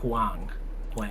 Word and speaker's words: Huang: Huang. Jensen Huang.